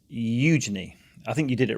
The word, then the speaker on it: Eugenie: Yeah, so what's the correct pronunciation? It's Eugenie. I think you did it right. Eugenie.